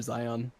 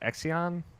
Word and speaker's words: Xion: How do you pronounce her name? Shion.